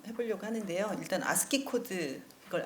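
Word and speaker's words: ASCII: 일단 아스키 코드, 이걸 아스키라고 읽습니다.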